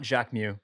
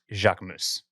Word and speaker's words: Jacques: but um but yeah it's not Jack Mew it's Jacques moose and uh and and